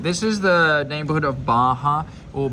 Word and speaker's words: Barra: is the neighborhood of Baja or Barra I suppose if you pronounce it in English it's a double R they pronounce it as a H sound here salvador Bay yeah Baya